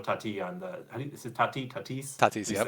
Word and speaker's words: Tatis: Is it Tatis?